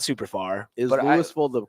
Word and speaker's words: Louisville: 25 minutes away so not super far is Louisville the correct pronunciation yes we pronounce our ass okay you're not you're not Kentucky you're not lawal yes exactly I I anytime I tell people I'm from Lewisville I immediately get oh Kentucky it's like no